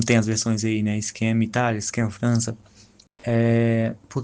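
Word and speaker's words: Skam: Isso é interessante porque a série, né, Scam, que é mais ou menos a pronúncia ali no série, já que é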